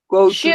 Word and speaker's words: should: Should go to the Should. work. Remember Should the pronunciation. go to- Should go to work. Recuerden, la L no se pronuncia. Termina en D. Should.